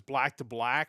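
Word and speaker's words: BLK II BLK: I believe it's Black to Black, but it's spelled BLK IIBLK.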